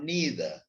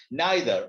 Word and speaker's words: neither: who plans neither or neither two pronunciations are there neither or neither he who plans nor